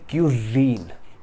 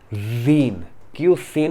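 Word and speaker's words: cuisine: इसकी प्रोनाउंसिएशन है क्यूजीन, क्यूसीन नहीं है या क्यूसिन नहीं है, इट इज क्यूजीन।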